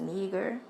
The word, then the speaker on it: Niger: also was being called Niger okay which uh translate to Black that's where you get the word okay it's uh Niger n i g e r in the Bible it's pronounced neger okay um being called